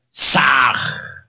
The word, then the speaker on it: Sah: Al exhalar, pronunciad el mantra Sah.